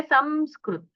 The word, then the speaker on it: संस्कृत: जैसे संस्कृत में ही देखिए, कोई संस्कृत कहेगा, कोई संस्कृत नकार का उच्चारण करते हैं, लेकिन वो है संस्कृत, वो ऐसा सिर्फ वहां पर आवाज आना चाहिए ऐसे, क्योंकि वहां सकार है आगे, और सकार कोई वर्गीय व्यंजन नहीं है।